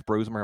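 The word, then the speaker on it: Brosmer: Now the And because Tyson Beant is in that Max, is it Max Bromer? Am I saying it wrong? Because I know he's a Minnesota guy. Yeah, it's Bromer.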